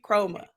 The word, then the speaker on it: Kromah: Chroma.